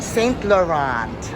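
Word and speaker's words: Saint Laurent: How would you pronounce St. Laurent? Okay. Oh, St. Laurent.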